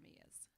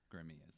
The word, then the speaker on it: Gramia's: Like they try to pronounce all the letters in the word.